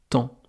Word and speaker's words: temps: Comme dans temps. Le temps qu'il fait dehors, la météo, le temps, eh bien ça s'écrit T-E-M-P-S. Il y a là même 2 lettres, muettes.